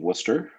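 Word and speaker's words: Wooster: to the College of Worcester, uh, spelled like it sounds, wer.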